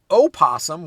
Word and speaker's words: opossum: Personally, I've always gone with the O in the spelling, but silent in the pronunciation.